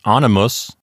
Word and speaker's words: animus: Next is animus. We start out with the letter A. That forms a whole syllable by itself, an open syllable. The next one is NI. That's an open syllable. The M is a consonant, which will start the next syllable. And that's all we've got. The last syllable is M-U-S.